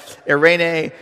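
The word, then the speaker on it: εἰρήνη: like you know what irenae rhymes with hairspray um you won't have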